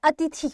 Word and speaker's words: अतिथि: अतिथि के अगर आप सही उच्चारण की बात करो या मैं कहूं वर्तनी जो होती है हमारी वो इस प्रकार से होती है अति थी यानी कि थ पर भी हमारी लघु ई होती है।